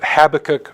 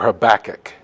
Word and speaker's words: Habakkuk: By the way, is it Habakkuk or Habakkuk? They did a study, and they figured out that there is a correlation between how people pronounce that name and personal attractiveness. The best looking people say Habakkuk.